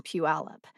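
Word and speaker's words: Puyallup: if I heard someone mistakenly pronounce the Y in Pew alip although probably not on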